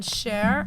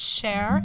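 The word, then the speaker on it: Fabian Schär: first goal by Fabian Sher I found out that it's share and not sh really yeah and I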